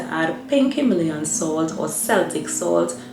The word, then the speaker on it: Celtic: A good tip to staying hydrated is to add pink Himalayan salt or Celtic salt. Some people pronounce it Celtic salt, but either way, if